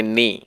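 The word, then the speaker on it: knee: घुटने को इंग्लिश में कहेंगे नी, इसमें के जो है वो साइलेंट रहेगा, हम इसको पढ़ेंगे नी।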